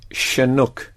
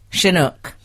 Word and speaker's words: Chinook: It should be Chinook. Chinook. Well, you know, I was mispronouncing the word correct for ages, and I was saying correct.